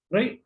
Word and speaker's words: rho: अपन क्या कर सकते हैं, मतलब अब रो अपन कुछ और ही होता है, रो तो अपने लिए, ठीक है, उसको प्रोनाउंस करते हैं रो जैसे।